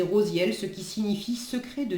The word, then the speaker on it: Raziel: à suivre l'archange alors Raziel là il est dit prononcé rosienne moi c'est vrai que je dis toujours Raziel mais bon prononcez rosielle ce qui signifie secret